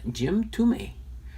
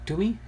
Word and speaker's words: Thome: name is, but it's it's pronounced actually like T-O, almost like a U-M-I, so I'm thinking it's ʻtoʊmi, or ʻtoʊmi, James ʻtoʊmi, and we'll get into that in just a second here.